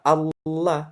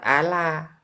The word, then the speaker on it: Allah: Nah, Allah itu disebutkan cara membacanya Allah itu lamnya tebal. Lam jalalah diberikan tajwid tasdid artinya di situ tebal. Makanya dibaca Allah bukan Ala.